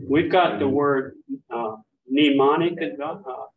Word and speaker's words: mnemonic: got the word uh mnemonic device yeah yeah that uses it's got an m and an N but we don't in English we don't pronounce the m but the Greeks do and there is another